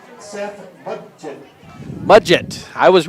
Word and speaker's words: Mudgett: We're going to wait for pronunciation. Second baseman, number 2, Seth Mudgett. Mudgett.